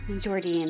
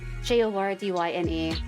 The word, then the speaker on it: Jordyne: Yes, yeah, Jordine, that's how you pronounce it. Jordyne.